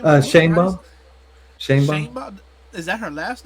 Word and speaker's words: Sheinbaum: Sheinbaum. Sheinbaum. Is that her last name? Yeah, that's her last name. Her first name is Claudia. Claudia Sheinbaum. I ain't gonna lie to you. Sheinbaum is a weird name for a Mexican.